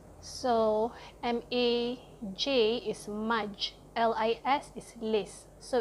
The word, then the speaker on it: Majlis: You just pronounce it exactly the way it's spelled. So M-A-J is Maj, L-I-S is lis. So it's literally Majlis.